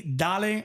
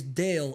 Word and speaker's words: Dale: Right now, it's Dale. Okay. Yeah. If you're not from Miami, Dale is Dale in Spanish. Dale. Yeah, it's spelled the exact same way.